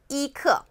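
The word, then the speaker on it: 一刻: 15분 11시 30분 그리고 11:45 읽어봅니다 씰 edna 이크 여기 부포 시면 은 저그 1 병은 표기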